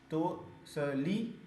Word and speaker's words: तोसली: हुआ है इसकी स्पेलिंग, उसके बाद तोसिल, तोसली, तोसली पढ़ते हैं, तोसली, और फिर स्वर्ण नगरी।